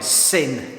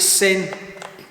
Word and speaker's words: CIN: why I'm using this c-i-n syn paints do we pronounce it sin I hope so but um we're even